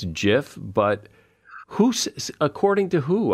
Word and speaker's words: GIF: it's he was saying it's um Jif not gif but if consensus is